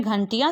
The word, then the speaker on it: घंटियाँ: तो घ के ऊपर अनुस्वार, ट में हरस ई की मात्रा, य में आ की मात्रा, और ऊपर चंद्र बिंदु अर्थात अनुनासिक। तब इसे हम पढ़ेंगे घंटियाँ।